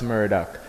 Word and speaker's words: Myrhdak: So I say Myrhdak, but I spell Myrhdak different. I don't spell it like murder. I spell it like frankincense myrrh. Myrhdak.